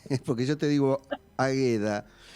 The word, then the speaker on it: Águeda: me dice que tu nombre se escribe con acento en la queda de semana tendría que haber corregido es porque yo te digo águeda y claro porque sabes que en algunas en